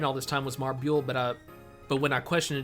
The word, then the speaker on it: Marbule: Simply because of the U there, so it didn't seem...